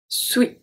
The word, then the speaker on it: suis: There's another S that we do not pronounce and it's the last S of the word suis. Je suis, so we don't say je suis. We say je suis, suis, so we do not pronounce the S.